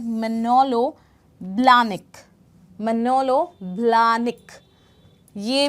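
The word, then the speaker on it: Manolo Blahnik: इसका प्रोनाउंसिएशन है manलो ब्लनिक। मनोलो ब्लनिक।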